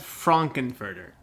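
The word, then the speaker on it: Frank-N-Furter: like I'm massacred in someone's name yes it's pronounced Franken further those guys know uh and vice so in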